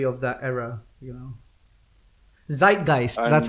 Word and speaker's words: Zeitgeist: in the memory of that era you know zeitgeist that's how it's pronounced yeah zeitgeist right guys yeah it's embedded